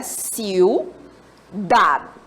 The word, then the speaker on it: ciudad: Ciudad. E aí, quando eu pronuncio ciudad, observem que dad é a sílaba tônica, não é isso?